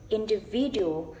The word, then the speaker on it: individual: Is individual. So in is the secondary stress, and V is the main stress. Main stress. So I pronounce it individual.